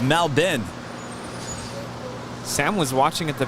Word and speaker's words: Melbourne: say it now I used to call it Mel Bern I used to call it now born born